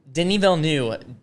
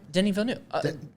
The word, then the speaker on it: Denis Villeneuve: Denis Villeneuve. You may know him by his American pronunciation, Denis Villeneuve.